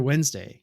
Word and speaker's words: Wednesday: it almost sounds like if you just spell it sounds like w-e-n-s-d-a-y Wednesday think about it when yeah yeah yeah Wednesday yeah yeah but it's Wednesday the D's the D and the N are kind of reversed right um